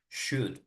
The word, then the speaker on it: should: Should. Should is only pronounced the U, like not the O and not the L.